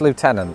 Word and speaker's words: lieutenant: But one of the famous differences between British and American English is how we pronounce this really French word. In America, it's lieutenant.